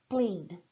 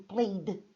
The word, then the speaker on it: played: Quando eu digo played, uma sílaba, um som só. Played.